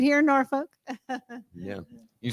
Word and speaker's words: Norfolk: Like, Right here in Norfolk. Yeah. you said it wrong. You got to say Norfolk.